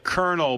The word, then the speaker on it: Colonel: Uh, Colonel, but like the kernel of corn.